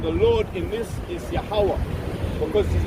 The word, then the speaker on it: Yahweh: Yahweh and Yahweh Shai, all right? That's what we got here. This is how you say he's writing his name in Hebrew.